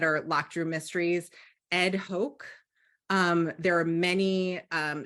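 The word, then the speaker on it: Hoch: lecture Mysteries so let me add that Ed Hoke is pronounced is spelled h-o-c-h um yes thank you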